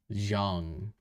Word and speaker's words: Zhang: How to pronounce Zhang.